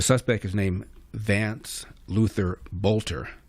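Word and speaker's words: Boelter: The suspect is named Vance Luther Bolter. It's spelled B O E L T E R pronounced Bolter.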